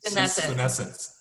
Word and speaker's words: senescent: How does a cell become, how do you pronounce this again? Senescent.